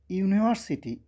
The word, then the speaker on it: university: যখন কেউ বলবে যে ইউনিভার্সিটি ইউনিভার্সিটি খেয়াল করো তখন ইউনিভার্সিটির সামনে ইউ উচ্চারণটা হবে ইউ ইউ ইউ তো এই যে ইউ উচ্চারণ এটা কিন্তু ভাওয়েল না সেজন্য এখানে বসবে এ ইউনিভার্সিটি কেমন?